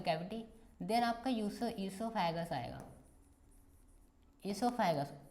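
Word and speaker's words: oesophagus: Then आपका ईसोफेगस आएगा, ईसोफेगस ओ silent है, ठीक है, ईसोफेगस पढ़ा है, प्रोनाउंसिएशन एनाउंसिएशन तुम्हारा सही होना चाहिए, ठीक है।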